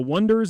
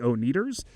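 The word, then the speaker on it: Oneders: from the' 60s and they are called the Wonders and they spell it o n e d RS and it's a running joke through the movie that that doesn't make any like people will call them the oers so I have a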